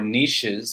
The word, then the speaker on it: niches: No, these are 6 awesome niches that, or niches, if you want to pronounce it the French way.